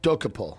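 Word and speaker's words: Dokoupil: Doc Doapole.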